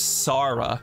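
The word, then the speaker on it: Chara: I say their name as Sara. The C makes an S sound like Sybil's.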